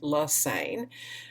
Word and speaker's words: Lane: me there's my name the last name rhymes with insane Lane um my office is